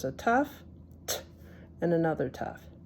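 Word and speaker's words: ת: next letter which is a tough T and this is a suff but in the spartic pronunciation it's also a tough so in the other pronunciation it's a s but here we're we're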